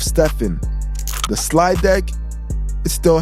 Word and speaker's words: Stephen: They mispronounced his name, calling him Stefan instead of Stephen.